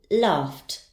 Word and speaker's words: laughed: Next, I have the verb laugh. Its sound ends in f. The ed ending will be pronounced as t. Laughed, laughed.